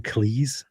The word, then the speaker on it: Cleese: Cleese?